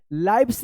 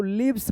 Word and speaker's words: lives: HELIVES क्या पढ़ेंगे इसको, लाइव्स नहीं पढ़ेंगे, इसको लिव्स पढ़ेंगे, लिव्स।